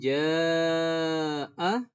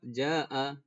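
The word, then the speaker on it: جاء: Kemudian ja'a. Kemudian di sini dibaca panjang 4 atau 5 harokat. Ternyata kita pendek bacanya.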